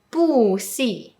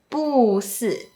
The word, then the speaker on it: 不是: 我觉得哭不是一定要 When bu is placed before a fourth tone character, it becomes the second tone, which is a rising tone.